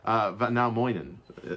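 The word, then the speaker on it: Väinämöinen: VAINAMOINEN. Moinen? Yeah. VAINAMOINEN. VAINAMOINEN. Yeah. It sounds like I'm saying good morning. Yeah. VAINAMOINEN. Yeah. Let's do it one more time. VAINAMOINEN. VAINAMOINEN. Moinen. Yeah. VAINAMOINEN.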